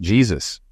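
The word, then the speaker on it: Jesús: "It's pronounced Jesus.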